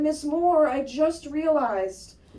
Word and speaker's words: Moore: And she said, Miss Moore, I just realized your name rhymes with bore.